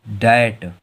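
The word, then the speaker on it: debt: देखो यहाँ पर टी के अगर पहले अगर बी आएगा तो बी साइलेंट होगा। इसे हम लोग क्या पढ़ेंगे, बी को नहीं पढ़ेंगे, इसे क्या पढ़ेंगे, डैट।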